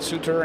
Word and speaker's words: Sutter: Ryan Sutter and uh Jonathan Taylor. Did I say it right? I know it's Sudter. I think of Bruce Sudter, you know, the Hall of Fame pitcher for the Cubs.